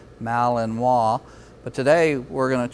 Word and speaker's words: Malinois: this breeds name is often mispronounced it's French breed Malinois but today we're going